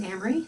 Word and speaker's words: Amery: through Blackboard so again my name is amri it rhymes with Camry if that helps and I have been